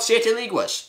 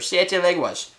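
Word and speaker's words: Siete Leguas: want to own it this is called SE lias or SE leguas if you want to say it correctly never had it well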